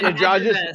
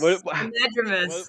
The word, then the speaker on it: anadromous: I always confuse androgynous. Anadromous. How do you say it? Anadromous. Anadromous. I always want to say androgynous.